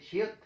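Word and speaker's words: 치읓: Given name is chiot.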